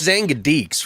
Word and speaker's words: Xangadix: It's Xangadix, right? Or it's because Xangadix. Yeah, was it okay? Because Rocco said it right then in the Well, documentary. that's how we say it in Dutch.